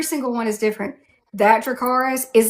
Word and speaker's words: Dracarys: it's like people ask me all the time to say Dracarys, and then people are like, "Why don't you roll your R?" Because Daenerys says it in the common tongue all but once. One time she Absolutely. rolls the R.